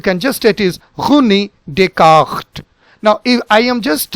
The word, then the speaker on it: Descartes: So now, so both the S are silent. So how do we pronounce this? This is Runi, Runi, and then Descartes, Descartes, Runi, Descartes.